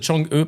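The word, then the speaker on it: Chang'e: fait partie du projet spatial Chang et pronon Chang E prononcé Chang E nom d'une divinité vivant sur la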